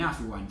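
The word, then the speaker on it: عفوًا: Y con las 28 letras del alfabeto árabe, sí o sí se agrega el alif, que no se pronuncia.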